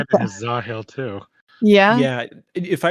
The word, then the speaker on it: Zahel: drifts a bit, and Michael Kramer kind of like leaves out the H. It's like Zahel Yeah. sometimes. Zahel. Yeah. That is a cooler Yeah, name. when I first listened to it, I thought it was just Zael. Yes, that's how I've been spelling it.